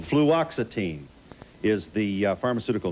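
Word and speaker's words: fluoxetine: How do you pronounce this? Fluxitine. Fluoxitine. Fluoxitine is the pharmaceutical name for Prozac.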